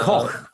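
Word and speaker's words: Koch: No, it's Robert Cox who who first identified the Pastor Institute. You're talking about K. Ko Ho.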